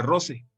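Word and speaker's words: rosae: misma palabra Rosa pero con la terminación hay se pronuncia roce así estoy indicando con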